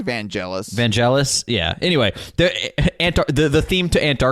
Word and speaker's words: Vangelis: basically a Vangelis song vanelis Vangelis how is it pronounced I think it's vanelis vanelis yeah anyway the